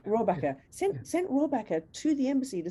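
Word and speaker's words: Rohrabacher: Rohrbacher. Yeah. Right, Rohrbacher. Sent Rohrbacher to the embassy to say, tell who gave the DNC leaks and I'll let you go, mate.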